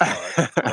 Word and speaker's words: Tariq: pronounce? Is it Tariq? Tariq. It's Tariq.